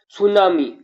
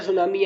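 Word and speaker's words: tsunami: सुनामी। सुनामी किस भाषा का शब्द है? सर्वप्रथम सुनामी शब्द को समझे। इसमें टी साइलेंट रहेगा।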